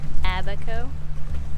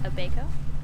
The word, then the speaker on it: Abaco: yeah yeah so I kept asking George how do you pronounce Abaco but I kept saying is it a baker and he was like no it's an Abaco but I kept saying a Bago like Bakers the bacon bacon bacon bits from back